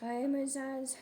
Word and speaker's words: Ahimaaz: Verse 19, then A- and Amas- Amas How to pronounce Ahimaaz? Ahimaaz, the son of J- J- How to pronounce Zadok?